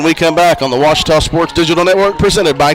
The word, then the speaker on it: Ouachita: Back in Texas, everybody pronounces it Wichita, but really, it's Ouachita. Ouachita. Ouachita. How would you pronounce it? Ouachita. Ouachita.